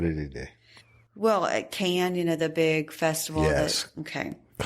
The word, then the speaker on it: Cannes: Well, at Cannes, the big festival. Yes. Okay. Cannes, It's called Cannes. Cannes. I call it Cannes.